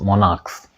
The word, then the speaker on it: monarchs: मोनार्क है, चूंकि सी एच का उच्चारण वहां भी क ही होता है, आपके एक्सेप्शन में दिया हुआ है, तो उस स्थिति में भी हम प्लूरल फॉर्मेशन करने के लिए केवल एस जोड़ते हैं, MONARCHS, मोनार्क्स।